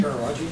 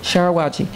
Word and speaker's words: Sharawagi: Authors Association Award for Poetry in 2011 for Sharawagi. Is that the correct pronunciation? Sharawagi. Yeah. Sharawagi, from Brick Books.